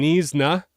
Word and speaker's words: Knysna: All right, next is a 2007 Knysna. That's how you pronounce this.